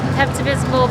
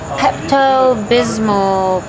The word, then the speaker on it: Pepto-Bismol: So the color I decided to go with is Pepto-Bismol pink.